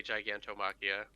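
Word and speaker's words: Gigantomachia: sees uh uh guide Giga Machina is kind of how I say it in my head but that's probably not the proper way to say it kind of the Japanese way to say it if you're in English they always say gigantom machia gigantom machia okay uh well he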